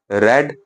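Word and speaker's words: read: जो first form of the verb होगी रीड की, उसे रीड बोला जाएगा, second रेड and third रेड होता है, ठीक है।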